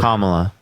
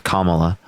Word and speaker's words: Kamala: done with the border kamla am I am I saying it wrong yeah yeah her name's Kamala the Border she wanted